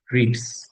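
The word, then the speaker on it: read: রিড ভার্বের তিনটা ফর্মই কিন্তু বানান সেম, রিড, রেড, রেড। উচ্চারণে ভিন্নতা আছে। পাস্টে আমরা রেড বলি, পাস্ট পার্টিসিপেন্ট রেড বলি, কিন্তু বানানে কিন্তু এক।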